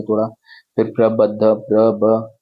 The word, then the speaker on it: प्रबद्ध: फिर प्रबद्ध, प्रब द और ध जो मैंने आपको बताया था कि ऊपर द लिखा है नीचे ध लिखा है, तो आप इसको प्रबद्ध पढ़ेंगे, दोनों का उच्चारण होना चाहिए।